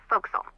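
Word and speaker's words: forecastle: ship, but it's pronounced folks. Why is that? Try pronouncing it like an English sailor with no formal education.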